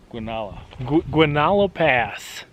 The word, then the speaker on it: Guanella Pass: So it's end of day 4, Monday night, sitting here in, how do you pronounce it again? Guanella. Guanella Pass.